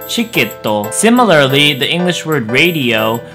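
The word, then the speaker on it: チケット: For example, the word ticket, even though it has the T-I sound, we're not going to pronounce it that way. We're going to instead use the ch sound. So the word ticket will transform into the pronunciation chiketto.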